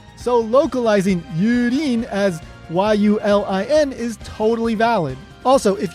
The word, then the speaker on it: Yulin: Instead of localizing the name as Yurin and writing it Y-U-R-I-N, I think they should have gone with Yulin, and the spelling for that would be Y-U-L-I-N. Now, whether you place the accent on the U or the Lin doesn't really matter to me. The important thing here is that we didn't use an R in the spelling. We used an L.